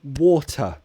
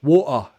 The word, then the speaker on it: water: you pronounce water better I will say water better there are two vowel sounds between the T so I pronounce it a true T water better however cockney might do it glottal e war are better oh wow crikey thanks